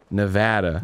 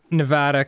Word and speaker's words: Nevada: Um, the name Nevada comes from the Spanish Sierra Nevada, which is also a mountain range in Spain, meaning snow covered mountain range.